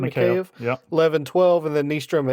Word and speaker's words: Mikheyev: Then in the first it was Mikheyev, I think is how you say his name. Mikheyev.